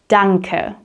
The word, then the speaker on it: danke: you in German is danke. Danke. Very simple. The A is like an A sound and the E at the end is like an sound.